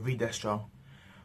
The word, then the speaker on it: Destro: So, or Destro, I should say, he pronounced his name, or Destro.